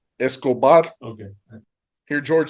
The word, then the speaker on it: Escobar: say it correctly because I can't roll my R's and you put like eight seven no yeah I think that one you don't have to roll it Escobar oh okay there